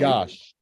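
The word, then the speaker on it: Iași: Yash, which is spelled Iasi.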